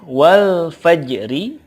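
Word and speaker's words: والفجر: Contoh berikutnya, wal fajri, ketika waqaf cara bacanya adalah wal fajr. Wal fajr. Yang pasti bukan wal fajr, bukan. Atau wal faj saja, tidak ada ro-nya, enggak. Tapi ada ro-nya, ro-nya di sini ditebalkan ya, dan juga tidak terlalu nampak suaranya.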